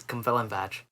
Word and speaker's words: Cwmfelinfach: And I mean, this dude got, like, this one specifically, the one in Cumfelinfach, which I love saying the name of that. That's spelled CWMFELINFACH. And it's Cumfelinfach.